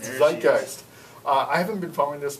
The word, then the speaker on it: Zeitgeist: Zeitgeist. Zeitgeist.